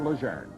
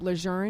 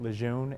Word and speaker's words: Lejeune: that our leaders in every public event that they go to have pronounced it the way it is meant to be pronounced. There are people in around this area that have grown up saying Leon and we hope that